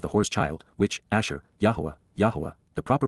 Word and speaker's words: Yahowah: the gestation of the whore's child, which, Asher, YAHOWAH, the proper pronunciation of the name of Eloah, God as